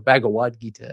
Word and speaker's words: Bhagavad Gita: And then I thought about things like the Bhagavad Gita or Bhagavad Gita, as you would pronounce it in Sanskrit.